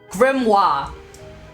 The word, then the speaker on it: grimoire: no r instead of Noir oh how to pronounce gr Noir grimoire says Google British what about American grandma grimoire